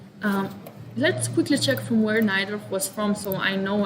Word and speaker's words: Najdorf: poland so for sure his name is pronounced naidorf has to be has to be because